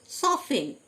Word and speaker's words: soften: সফেন, SOFTEN, সফেন, টি silent, সফেন, মানে নরম করা।